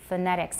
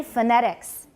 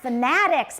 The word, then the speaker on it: phonetics: in those situations but normally we use a neutral vowel phonetics everybody phonetics and it's not fanatics because that's a quantum function now i want you to be quantual about phonetics i want you to be fanatic about phonetics but i don't want you to call phonetics fanatics all right so two